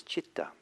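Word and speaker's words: citta: So it's possible that he was doing a little word play, because the word for mind or state of mind is chitta, C-I-T-T-A.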